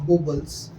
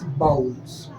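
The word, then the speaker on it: vowels: क्या पढ़ते हैं बेटा इट इ नॉट बबल्स इट इज बाउल्स क्या बोलते हैं क्या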